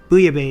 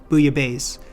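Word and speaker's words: bouillabaisse: one French viewers are telling me I'm saying booya B is wrong booya Bay they tell me I'm pronouncing it closer to a naughty word in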